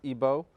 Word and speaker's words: Igbo: comes from Nigeria from the Igbo tribe otherwise pronounced IBO and Remy's a scholar